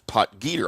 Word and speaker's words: Potgieter: Aldrich poter as I've been mispronouncing his name for five years. Uh I always thought it was poter but apparently it is poter.